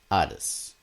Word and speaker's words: Hades: Nah, how do you say in Greek? Hades. Ades? Ades. That's it.